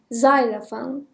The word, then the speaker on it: xylophone: حرف اولش ز تلفظ میشه. xylophone.